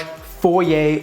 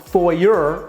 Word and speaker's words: foyer: When you enter the house, you're greeted with this beautiful large foyer or foyer, depending how you want to pronounce that.